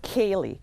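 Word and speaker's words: ceilidh: the pron the correct way to pronounce to pronounce it yeah yeah that word it's Kaye okay yes and uh Kaye actually translates as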